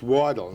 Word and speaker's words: Waddell: that we fell a waddle if I was elected at the same time as Ian Waddell or what was ours we call him the nod or not it's waddle don't forget that is waddle what Dale is a